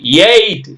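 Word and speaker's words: eight: ஜி ஹெச் டி மைட் இஐ ஜி ஹெச் டி எய்ட் எய்ட்னா எட்டு இங்க பாருங்க எய் இட் அவ்வளவுதான் மை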